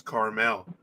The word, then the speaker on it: caramel: Carmel does not have the second A in it. So that is correct. It's caramel. Caramel has the two A's.